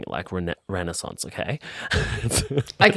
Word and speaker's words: Renaissance: And I used to say it like Renaissance, but she says Renaissance, so I'm saying it Renaissance, okay? That's how she pronounces it.